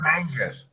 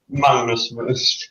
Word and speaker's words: Magnus: Mangus. Are you good, Mangus? Magnus. Minus. Magnus is the right Magnus.